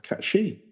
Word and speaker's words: Cait Sith: the legend of the cat shei what the cat she so it's like cat she yeah it's a fairy